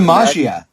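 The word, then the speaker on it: Maggia: Oh yeah, It's the magia. Magia? Yeah. Magia? Magia. Like Like the mafia, Like but mafia. with the double G. Yeah. Like John DiMaggio. It's so hard to say. Yeah. Magia.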